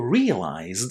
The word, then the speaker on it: realized: Purchased is pronounced with the t sound at the end, while realized is pronounced with the d sound there.